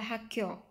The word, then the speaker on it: 학교: của kyo thì chúng ta sẽ có là hakyo hakyo được chưa ạ? Hakyo rồi chorop hako ha hakyo nghĩa là trường học trường học hakyo chorop